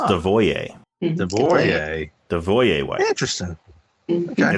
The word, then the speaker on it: Devereaux: And he reveals that everybody mispronounces his name. They say Devereaux. It's actually pronounced Devoyer.